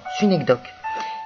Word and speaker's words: synecdoque: Ou encore, le fameux système, les cas où l'on trouve une synecdoque, qui vient du grec, qui s'écrit, qui se prononce de la même façon, synecdoque.